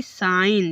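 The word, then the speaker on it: sign: जैसे कि साइन देखो एन के पहले जी है इसलिए देखो एन के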